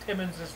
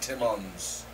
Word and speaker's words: Timmins: of you has felt timmins's name wrong tonight ins not ons it's Timmins not timons yeah every single person